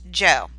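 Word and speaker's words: Zhou: a really complicated word but it actually is pronounced Jo so the joke dynasty is second they will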